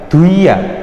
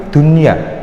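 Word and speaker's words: دنيا: Jadi kan bacanya bukan duia tapi dunia. Jelas dunia, dan dia dibaca idhar, artinya jelas satu ketukan ya, nggak boleh dunia, nggak boleh, tapi jelas dunia.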